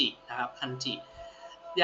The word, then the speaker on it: 漢字: ครับ ตัว นี้ นะ ฮะ คันจิ อ่าน ว่า คันจิ นะ ครับ คันจิ อย่าง ที่ 2 นะ ครับ ก็ คือ ตัว